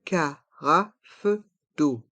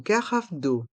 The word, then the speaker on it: carafe d'eau: d'eau une Cara d'eau les lettres e a u se prononcent o comme la lettre O d'eau une carafe d'eau une carafe d'eau une serviette une servillette